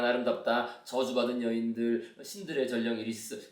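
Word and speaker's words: Iris: 근데 이리스가 이게 그 이제 우리 아이리스라고 영어식 발음은 아이리스, 그죠? 이리스.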